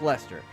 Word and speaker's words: Leicester: And yes, it is pronounced Leicester.